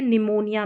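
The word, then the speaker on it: pneumonia: यहां पर P silent है। निमोनिया में जब भी लिखना होगा एन से शुरू नहीं होगा। यहां पर आपको याद रखना है कि पी भी आता है शुरू में पढ़ा नहीं गया है लेकिन लिखा तो जाएगा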